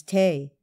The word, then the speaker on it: tea: is due t or as it was then always pronounced T and gentle Anna whom three Realms obey does sometimes counsel take and sometimes Tay Pope was first brought